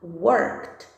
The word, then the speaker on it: worked: Porém, na pronúncia, esse Dzinho, ele vai ter um som de T. Então, vai ficar worked, worked, worked.